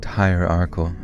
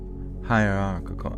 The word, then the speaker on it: hierarchical: They also instituted a strict hierarchal. Oh my god. Hierarchal. Hire your uncle. God dang it. Hierarchical.